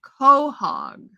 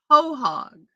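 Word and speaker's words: quahog: back in the Shell pronounced coog coog okay chairman ma s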